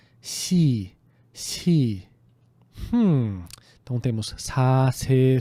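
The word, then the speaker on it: 시: Em vez de falar Si, a pronúncia correta é Si.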